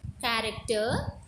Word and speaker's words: character: So, chin and cheap are pronouncing the same sound, whereas in character, CH are pronouncing ka sound.